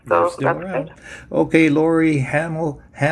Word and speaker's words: Hahnel: Okay, Laurie Hahnel, rhymes with Hahnel.